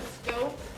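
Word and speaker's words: stope: This is called a scope. That's spelled S-T-O-P-E.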